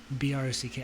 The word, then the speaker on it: Brock: I was like, Brock, BROCK. I try to pronounce the K.